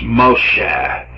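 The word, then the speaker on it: משה: ma sha and so Moses pronounced in Hebrews Moshe and so somebody figured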